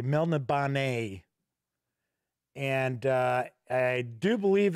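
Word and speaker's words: Melniboné: get that back so kabuki kid says that she always pronounces it as mel nib oh nay actually i do believe i pronounced it correctly mel nabane and uh i do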